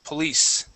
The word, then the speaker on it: police: police uh the uh the stress is at the end of the word police police very good now